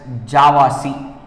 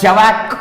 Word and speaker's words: javac: In short, we will call Java compiler as JavaC. JavaC means Java compiler. Many of them would call it as JAVAC also.